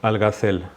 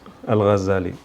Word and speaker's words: Algazali: pronunciación se va mucho entonces en Europa muchos siglos fue conocido algas Dalí como al gazel alcácer pero su nombre es algas de Ali y bueno la idea